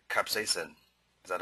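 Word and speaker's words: capsaicin: the pain relief experienced with h c cap capsacin is that how to pronounce it capsacin yeah capsacin capsacin is a compound is from the chili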